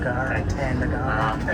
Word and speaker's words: Ngara: reasons that stop is called Ngara and not Ngara, as I can pronounce it. Ngara. Yeah, so with the silent G.